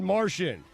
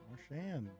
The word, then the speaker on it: Marchand: That's not how you pronounce it. How do you pronounce it? You have him from another planet. Yeah, Brad Martian, mental ward, collision course. How do you pronounce it? Marchand.